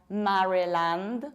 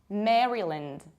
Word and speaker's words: Maryland: Another one is this one, and this is not Maryland. We don't have a. We say Maryland, Maryland. And this is another rule that is really important. Whenever land doesn't constitute a separate word, but it is a part of something bigger, you have to reduce it. That's why we say Maryland and not Maryland.